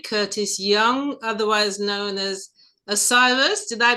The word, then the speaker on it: Osiris: Hi, we have with us today Curtis Young, otherwise known as Osiris. Did I pronounce that correctly?